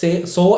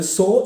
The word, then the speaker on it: saw: ചെയ്യുമ്പോൾ ഈ വേർഡ് ഇപ്പോൾ സോ എന്ന് പറയുന്ന വേർഡ് നിങ്ങൾ സേ എന്ന രീതിയിലാണ് ഉച്ചരിക്കുന്നതെങ്കിൽ അത് നമുക്ക് മനസ്സിലാക്കാൻ പറ്റും. അങ്ങനെ ഒരു അഡ്വാൻറ്റേജ് ഉണ്ട്. ഓക്കെ, അപ്പോൾ ഇവിടെ നിങ്ങൾ ശ്രദ്ധിക്കേണ്ടത് സോ എന്ന് പറയുന്ന വേർഡ് ഉച്ചാരണം സോ എന്നാണ്.